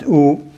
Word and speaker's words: 午: So, and also this character here is pronounced U. This character here is pronounced U.